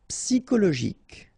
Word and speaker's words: psychologique: Psychologique. Okay, remember it's an exception here because you've got this C-H-O. Normally we should pronounce it sho, okay, but in that case we pronounce it ko.